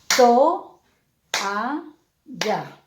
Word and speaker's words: toalla: Al tener dos vocales abiertas seguidas, entonces automáticamente no pueden estar unidas, se deben separar. Entonces, ¿cómo quedaría la pronunciación? Veamos. To, a, ya. Fíjense ustedes que quedaría solito to, a, ya.